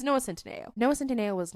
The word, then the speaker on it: Noah Centineo: It's Noah Centineo.